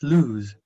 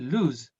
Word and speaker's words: loose: Este lose y este lose. La diferencia radica en la pronunciación, esta es más larga.